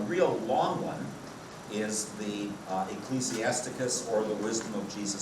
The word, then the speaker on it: Ecclesiasticus: A real long one is the Ecclesiasticus, or the Wisdom of Jesus Sirach. So we have Ecclesiastes, which some people wrongly pronounce Ecclesiastics. So we have Ecclesiastes, and here Ecclesiasticus.